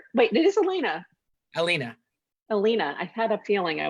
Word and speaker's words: Allena: Allena. I had a feeling I was mispronouncing the Oh, E.